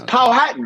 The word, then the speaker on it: Powhatan: i'm at right now it's powhatan man you got manhattan and powhat how confused how confused